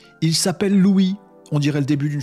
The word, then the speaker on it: LOOI: caisses de vous présenter Louis ça s'écrit l o o i c'est quoi c'est lui